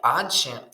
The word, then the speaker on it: адже: Тут ми маємо не адже, а ад же тут адже адже адже, до речі, наголос на другий склад.